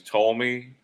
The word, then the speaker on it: Ptolemy: You know, his name is Ptolemy. He has the silent P in front of it.